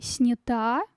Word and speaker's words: снята: И снята. Женский род. Да. Причастие. Ударение ставится на последний слог.